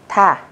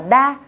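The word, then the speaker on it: 타: Thực tế từ này, khi cô ghép với A, các bạn sẽ đọc là thả. Thả. Tức là các bạn không đọc là ta, cũng không đọc là đa.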